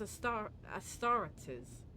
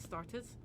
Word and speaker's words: Astartes: Fragmentary accounts lead me to believe that the blessed Adeptus Astartes, that's not how you say it, Astartes, are operating in the Cronus Expanse, and I await news of their victories with great anticipation.